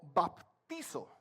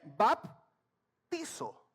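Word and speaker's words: βαπτίζω: griego, pero lo investigo, que se lee y pronuncia algo así como baptizo. B grande, A, una P, baptizo. Así se lee y se pronuncia en el griego.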